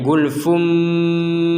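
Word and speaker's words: غلف: dengan ba berarti dibacanya gulfum jad ini Gul gulfum bertemu ba maka dibacnya gulfum seperti itu waqu qulubuna gulfum maka yang al katanya gulfun di sini dibacanya gulfum diperkuat dengan adanya mim kecil seperti itu Oh ya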